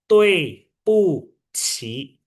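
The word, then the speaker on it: 对不起: Ini bacanya gimana? DUI, D kita tahu bacanya T. UI tengahnya ada E, maka dibacanya TOE, ya kan? BU, B kan dibaca apa? B dibaca P, jadi PU. Q sama I, Q dibaca C, tambahin H, jadi CI. Maka ini bacanya TOE, PU, CI.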